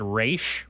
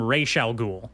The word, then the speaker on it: Ra's al Ghul: For some reason, in the Nolan canon, they pronounce it Raish, which I had never heard before. Raish? Yeah, they call him Raish al Ghul.